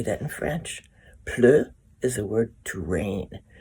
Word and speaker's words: pleut: Pleu is the word to rain. So pleu sounds like rain because it plop, plop, plops. So il pleut, pleu, pleu, pleu.